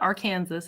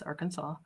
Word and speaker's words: Arkansas: I know how to pronounce it properly. I know it's not Arkansas, it's Arkansas.